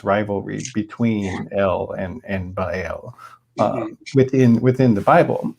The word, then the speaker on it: Baal: a god who was described in the bible as baal but the spelling of it and the pronunciation of it should be ba el so it was actually